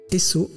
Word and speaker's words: Esso: Esso est la prononciation phonétique des lettres S et O pour Standard Oil, la compagnie pétrolière de John Davison Rockefeller.